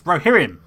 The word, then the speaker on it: Rohirrim: And yes, you get some weird pronunciations like Rohirrim. It's Rohirrim.